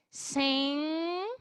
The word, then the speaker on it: sing: Sing, nasal, N nasal, G mudo. Sing along. A gente vai falar dessa forma, tá? O G é mudo, ok?